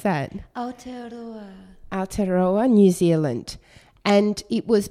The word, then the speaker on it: Aotearoa: How do I pronounce that? Aotearoa, New Zealand.